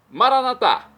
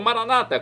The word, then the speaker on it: Maranatá: Maranatá, como dizemos nós católicos, ou Maranata, como dizem nossos irmãos separados das comunidades evangélicas ou protestantes. Não importa a pronúncia, o significado é o mesmo.